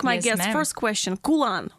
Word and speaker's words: Khulan: Did I pronounce that right? I always ask my guests ma'am. first question. Khulan, right?